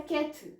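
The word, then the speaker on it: quatre: next आ जाता है केथ यहां पर भी आर को मैंने ज्यादा प्रोनाउंस नहीं कथ आप ध्यान से सुनोगे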